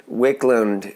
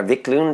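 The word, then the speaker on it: Viklund: back when you know simon wicklund uh vic lund i think is how you say his name yeah yeah he does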